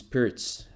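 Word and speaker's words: Pirc: Kuzma says it is Pirts. I know that Pirts is probably the authentic pronunciation, but I'm like, yeah, trying to pronounce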